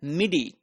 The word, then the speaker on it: MIDI: So then there is an alternative method known as MIDI, which is pronounced as MIDI.